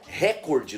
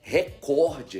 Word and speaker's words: recorde: Não é recorde, não tem esse acento, não é uma proparoxítona. O correto é recorde.